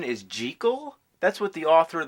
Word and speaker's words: Jekyll: evil mr hyde you know that the proper pronunciation is jekyll that's what the author of the novel insisted